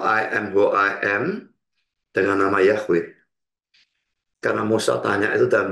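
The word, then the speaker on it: Yahweh: atau nama Yehova ya ya mau baca Yehova sebetulnya bacanya yahwe Ya mungkin lebih tepat yahwe kalau Yehova itu menurut sayaih salah sebetulnya ya tapi Kalaupun gak mau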